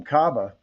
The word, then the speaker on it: Kaba: And then you've got another guy in Kaba, Ibrahim Kaba, or Ibrahim. I noticed he pronounces it Ibrahim Kaba. Transfer from St.